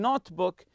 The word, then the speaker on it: notebook: Some people like to bring notebook or journal to write about their travels. So the word here, notebook, notebook. You stress the word note.